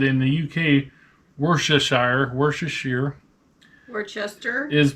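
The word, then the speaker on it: Worcestershire: it the same what wor Shear Shire so I guess it's worshire worsters Shire except in the UK they say Shear I have we'll just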